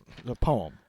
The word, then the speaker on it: poem: poem. A poem. Okay. So it says 65% of us use 2 syllables to Oh, pronounce poem, poem. while 34% only use 1 syllable.